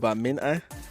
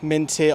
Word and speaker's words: Minteh: But we will talk about the lad, Gambian forward, Yankuba Minteh, or I've heard it pronounced as Mine with a silent T, from Odense, Newcastle investing,